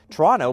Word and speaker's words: Toronto: You say you're from Toronto, but you pronounce the second T, which no Canadian does.